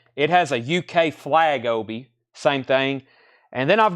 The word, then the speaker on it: obi: gonna get one it has a UK flag Obi same thing and then I've got two they're